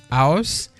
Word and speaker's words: aus: Il y a la préposition aus. Aus qui s'écrit A-U-S.